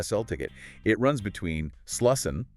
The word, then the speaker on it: Slussen: It runs between Slussen, that's Slesen, Skepsolmen, Skeppsholmen, and Djurgården.